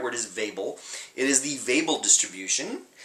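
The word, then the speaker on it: Weibull: is uh ethnically Swedish and his name is pronounced Vel but I certain I've heard this referred to as the wble distribution or the Weeble distribution but the right word is vable it is the vable distribution and you can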